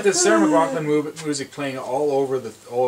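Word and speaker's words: McLachlan: suffer from irish because there's like the sarah mcgucklin kind of uh i pronounced that mispronounced that word too much yeah and uh cage this is just getting annoying now but there's like the sarah mclaughlin music playing all over the thing and it's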